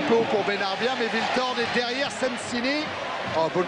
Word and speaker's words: Wiltord: Eric Bénard, il est allé demander à Sylvain comment il fallait prononcer son nom. Et Sylvain lui a dit Viltord.